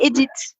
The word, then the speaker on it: Edith: decided to call me edit so in fact I have an English name yes as I as I tried to pronounce before we say Edith in Australia edit like you know edit repeat after me please